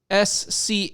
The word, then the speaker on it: Scholten: The SCHOLTEN is pronounced, the SCH is SK.